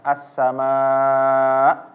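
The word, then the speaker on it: السماء: kita lihat di sini ketika mengucapkannya assama nah ini harus ditekan di akhirnya ya di hamzahnya jangan membacanya assama assama kalau enggak ditekan tapi dia ditekan Karena ada hamzahnya assama sama Iya tapi jangan berlebihan assama kayak berlebihan menjadi kayak mau huruf ke Ain assama nah ini teralu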